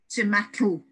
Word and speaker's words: tomatl: in the Aztec word tomatl, and it's just been anglicized down to tomato. So we've transferred the tl sound at the end of tomato into an O.